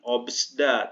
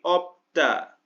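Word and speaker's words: 없다: Kemudian biup sama siut bukan obsda, tapi opda.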